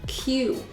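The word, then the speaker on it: queue: UK you're in a q q e u e very strange spelling it's pronounced Q so he's on the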